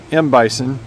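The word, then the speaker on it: M. Bison: uh they called him Mbison to rhyme with Mike Tyson, but uh then uh whenever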